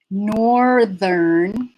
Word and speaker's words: northern: So why does the TH become voiced? Well, it was an end of a word before, and now it's the middle of a word. And it's more difficult to stop. It's more difficult to stop voicing in the middle of a word, to do a sound that's voiceless, and then return to the voicing. We have plenty of words like this, but northern and southern are not those words.